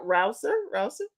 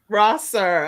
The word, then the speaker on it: Rosser: Okay, so I am excited because we have with us coming up Crystal, and am I saying it right? Rouser? Is that right? Rosser.